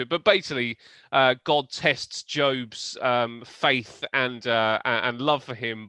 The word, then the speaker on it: Job: Pronounced Job.